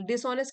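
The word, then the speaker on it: dishonest: डिसऑनेस्ट का मतलब होता है बेईमान, जो बेईमानी करता है, चालाकी करता है। एच इसमें साइलेंट है, डिसऑनेस्ट।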